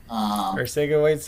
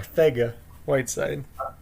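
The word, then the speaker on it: Arcega-Whiteside: sleeper than a young sleeper is GJ Whiteside their sake awaits it hurt yeah it's not our say get sorry Saiga Whiteside I see a website okay thank you no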